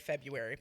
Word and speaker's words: February: of Fe February February who decided to pronounce it like February by the way yeah they're like that R yeah they're like the r is silent just do one of